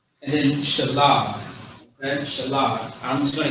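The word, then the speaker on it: שלג: Shalah. Shalah is how you pronounce it.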